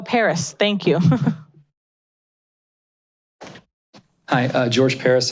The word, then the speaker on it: Paris: George Peril. I'm sorry if I pronounced that wrong. George Peril. Oh, Paris.